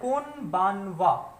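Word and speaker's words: こんばんは: Next है कोनबानवा। तो देखिए अगेन ये जो है वो इसका प्रोनाउंसिएशन, यहाँ पे हा का प्रोनाउंसिएशन जो है वो हो जाएगा वा।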